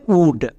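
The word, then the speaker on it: would: আরেকটি ওয়ার্ড দেখো উড এখানেও আমাদের ও ইউ হসুকার সাউন্ড দেবে সো এই শব্দের উচ্চারণটা হবে উড এবং এখানে এল সাইলেন্ট এই শব্দগুলো ইংরেজি রিডিং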